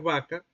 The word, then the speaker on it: vaca: iba a decir vaca, si esos locutores iban a decir vaca, no iban a decir vaca como la estoy pronunciando yo en este momento, sino que iban a decir vaca, mordiéndose el labio inferior. Vaca. Vaca. Es decir, no produciendo el oclusivo, sino el fricativo.